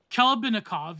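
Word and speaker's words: Khlebnikov: Vladimir Klebanikov, how am I pronouncing that? Klebanikov, yeah.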